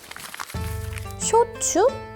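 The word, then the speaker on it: 焼酎: 오늘의 술은 쇼츠입니다. 쇼츠? 네. 방금 제가 소주를 잘못 말한 게 아니고요. 쇼츠가 맞습니다. 일본식 소주를 쇼츠라고 읽거든요.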